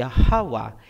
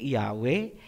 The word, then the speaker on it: Yahawa: Ang pangalan ng ama ay Yahawa, hindi Yahweh, hindi Jehovah, hindi Ahaya, hindi Yahuwah, at mas lalong hindi Jesus Christ. Lahat yan ay Babylonian Masoretic na bigkas.